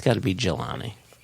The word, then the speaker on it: Jelani: GEH dash or hyphen LONNY, which I take to be Jelani, which apparently is a soft G, which sounds like a very hard G.